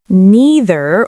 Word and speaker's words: neither: Neither or neither. Same thing. Both are totally fine.